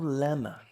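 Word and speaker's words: llama: pro idioma inglês e eles falam lama compreendo tem dois L ali você não sabe bem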